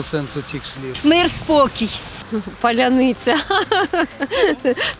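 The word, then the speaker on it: паляниця: цих слів мир спокій Поляниця тому що росіяни їх не можуть вимовляти через то воно наши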